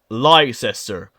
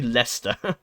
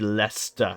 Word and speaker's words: Leicester: Americans will look at this and think say liester no it's actually leester it's pronounced really weird but it's actually leester Les leester it's really weird and a lot